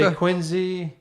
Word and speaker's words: Quincy: You pronounce Worcester. W you say Worester, you say Quinzy without blink, you know, without blinking.